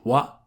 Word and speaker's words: は: When ha is used as a particle, it's always going to be pronounced wa.